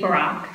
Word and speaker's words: Barak: Thank you, Barak. Thank you very much. Pronounced like Barack Obama, but not Barack Obama with the same pronunciation.